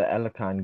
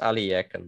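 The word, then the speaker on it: Alekhine: what formation is white setting up here the alakan gun yeah it's pronounced aliyakan though but i'll forgive you no the alakan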